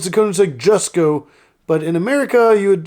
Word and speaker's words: Jesko: In a lot of countries in Europe, it's actually pronounced as a Y sound.